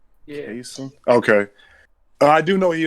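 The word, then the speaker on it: Chaisson: I think it's pronounced Clavon. Clavon. Yeah. Cason?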